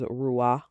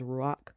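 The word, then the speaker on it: רוח: point out that the word for breath is ruah and um like ruah or ruach is also uh pronounced as ruach.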